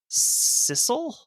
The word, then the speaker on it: sisal: The stevedores began loading her outgoing cargo of sisal. What is that? Sure. Probably an agricultural product. Something that comes along with the shipping of sawmills, you know. Sisal, it's pronounced.